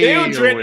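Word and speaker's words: Théodred: He's like, oh, Your wife is correcting our pronunciation in the chat. Hey, Theodred is the son.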